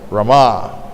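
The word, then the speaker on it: Ramā: of fortune manifested directly she is known as rama to differentiate from balaram rawa no but for the goddess of fortune the accent is on the last syllable rama sweet absolutely inclined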